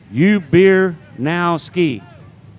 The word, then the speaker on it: Ubernowski: He said the 64 is pronounced Ubernowski.